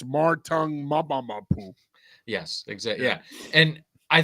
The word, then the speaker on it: Marte Mapu: cut you off, John, you need to say his name the right way. I didn't know how to say his name until Bill Coward taught me how to say it in one of the uh highlights he did on the Patriots. It's Martong Maboo.